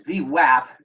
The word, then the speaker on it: VWAP: The volume weighted average price, it's VWAP. There's an VWAP. A in it, not an O. All these East Coast people pronounce it with an O.